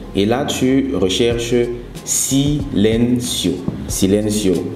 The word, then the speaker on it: Silencio: Google Play Store et là tu recherches sileno Silencio s'écrit s i l e n C o donc